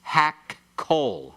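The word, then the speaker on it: הַכֹּל: So kol becomes hak-kol. Hak-kol. All right? When you pronounce it very swiftly, you can hardly hear the 2 kofs put in there.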